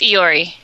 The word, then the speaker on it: Iori: I am the guy There's an L in the last name. No, it's an I. It's Iori.